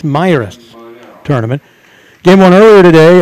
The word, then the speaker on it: Miras: christi myras classic tournament i've been saying mirrors and i found out from the press box folks here that's a mispronunciation it's my rest tournament game one earlier